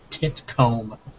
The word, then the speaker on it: Titcomb: Cannonball titone yeah Cannonball titcomb and it's spelled exactly as you think those words just munch together into a name Cannonball tit TI